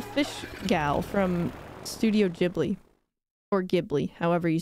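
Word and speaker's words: Ghibli: text I know that some people say gibli but I think it's jibli I've like I've watched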